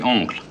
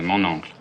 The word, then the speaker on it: oncle: What's the French word for uncle? That would be oncle. And my uncle would be mon uncle. Exactly, mon oncle.